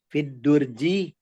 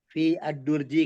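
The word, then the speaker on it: في الدرج: Fiddurji ini kita bacanya nggak fi terus fi ad-durji kan nggak begitu. Langsung kalau jar majrur satu rangkaian.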